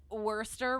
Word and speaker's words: Worcester: Well, so I thought it was Worcester. So it'd be Worcestershire, because it's kind of like Gloucester, where it looks like Gloucester, but it's Worcester.